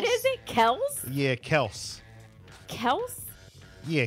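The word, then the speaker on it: Kelce: do you what is it Kel yeah Kel Kel yeah k e l c e Kel H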